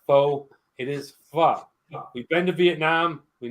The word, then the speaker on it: pho: call it pho, but see that little squiggly line against the O? That is actually pronounced like an ah. So it is pho.